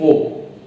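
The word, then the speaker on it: aux: Pronunciation will be o meaning again will remain the same to the at the inver.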